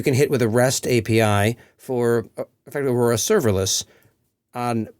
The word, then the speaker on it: API: postgress now supports data OPI did I just pronounce API as OPI yes I did Ami has three syllables and so does API you can't have one